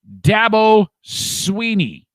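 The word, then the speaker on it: Dabo Swinney: Okay, so you say it, Dabo Sweeney.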